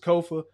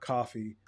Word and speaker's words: Kofa: I have been your humble host, Kofa, K-O-F-A, not coffee, not kufu, not Kofi, or any variation thereof. Kofa rhymes with sofa. Easy to say, easy to spell.